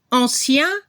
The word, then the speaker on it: ancien: Ahí sí la pronunciación es diferente entre el masculino y el femenino. Se escucha la última consonante. Ancien para el masculino, ancienne para el femenino. Se escucha la N al final.